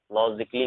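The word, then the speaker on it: logically: Double L वाई से पहले ए होगा तो ए साइलेंट होगा।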